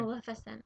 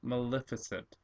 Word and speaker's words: Maleficent: melis maliss how do you say her name Maleficent Maleficent oh what a it's a great name but